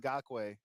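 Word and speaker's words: Ngakoue: It just got a young Nakwe. Is that how you say his name is? Yeah. Yannick Ngakwe.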